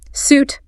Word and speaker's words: suit: The pronunciation is suit rhymes with boot.